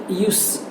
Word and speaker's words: use: उसमें उच्चारण आता है, whenever there is a sound of स, use, then it is used as a noun. But whenever it gives you some sort of z-like sound, then it is used as verb.